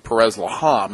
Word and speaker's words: Perez Laham: Now, I've been saying all year, I've been saying Perez Laham. Am I mispronouncing it? No. No, I think that's fine.